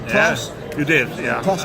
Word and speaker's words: Klaus: Klaus?